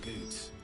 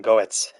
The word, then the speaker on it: Goetz: I suppose I should thank Goots. If this game didn't have voice acting, I would have pronounced his name Goetz.